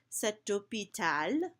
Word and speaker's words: hôpital: So this example here, if you remember that H's are silent, cet hôpital, so you can hear that T carrying me into the next word.